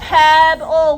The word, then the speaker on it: pebble: Yeah, pebble. What's our ending for pebble? What sound? L. Oh. It sounds like oh, but we actually spell it L-E.